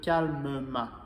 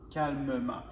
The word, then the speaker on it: calmement: de faire ça donc on doit prononcer le E pour faciliter la prononciation quand il y a trois consonnes autour donc on va dire calmement calmement mais pour tous les